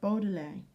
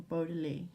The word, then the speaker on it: Baudelaire: It's called Baudelaire, or Baudelaire, however you want to pronounce it.